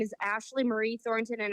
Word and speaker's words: Ashleigh: My name is Ashley Marie Thornton, and I have to spell it because it's the British way. It's ASHLEIGHMARIETHORNTON, just like Billy Bob Thornton. No relation, though. And I have known you forever. We have gone ghost hunting together, and I would always say your name wrong because of that English spelling.